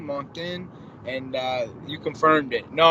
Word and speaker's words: Moncton: what I think right there that's not we pronounce it wasn't Mach done Moncton and you confirmed it no I didn't really